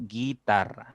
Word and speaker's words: guitarra: habría di tongo pero estamos diciendo guitarra suena directo la i y no suena la u muy bien Qué pasa